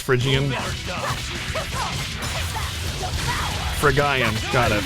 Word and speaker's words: Phrygian: of the master the window side power pronounced Phrygian for a guy I'm gonna thank you